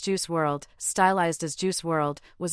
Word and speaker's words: Juice WRLD: December 8th 2019 known professionally as juice World pronounced juice World stylized as juice world was an American rapper